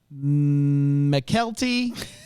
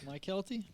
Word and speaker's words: Mykelti: Nadine Ellis, BJ Britt, Karen Riley, Tamala Jones, McKelty Williamson. Can't be McKelty. There's no world. You don't think so? How you spell it? MYKELTI. Okay. Mike Kelty?